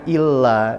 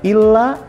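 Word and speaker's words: إلّا: Kita simpulkan bedanya antara illa dengan ila. kalau ada tasdid, yaitu kecuali. Kalau tidak ada tasdid, artinya ke atau kepada.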